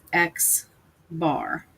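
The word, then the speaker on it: x̄: for the mean and it is read as X bar so it's an X with the bar over it and that stands for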